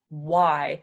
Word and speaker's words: why: letter I right why so for this one we make the W sound and then we just go why why so you're just saying the W and I sound together w i why why right so that's